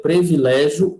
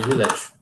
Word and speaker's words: privilégio: fundo não era crise é previlégio ou privilégio e o privilégio lembrando aceita aqui paroxítona